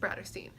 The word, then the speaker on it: Bratterstein: My channel name is pronounced Bratterstein, like Brat and Catterstein, but Bratterstein because Bratterstein.